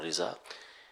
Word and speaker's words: رضا: بھی ترجیح دی ہے، اور عربی میں عام طور پہ رضا ہی پڑھا جاتا ہے، لیکن ہمارے یہاں جو لفظ ہے تو مفتی صاحب رحمۃ اللہ علیہ نے تحقیق یہی کی ہے کہ دونوں تلفظ ٹھیک ہیں، رضا اور رضا، لیکن جب ایسا معاملہ